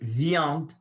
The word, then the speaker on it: viandes: Les viandes. Les viandes, je ne prononce pas le E et le S final.